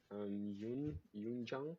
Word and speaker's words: Yun Giang: Yun Giang, Yeah, I believe that's yeah. how I pronounce it.